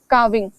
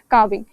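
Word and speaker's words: calving: क्रिया को कहते हैं काविंग यहां पर लिखा हुआ है कार्विंग एल जो है वो इतना मतलब साइलेंटली प्रोनाउंस होता है काविंग सो ये काविंग जो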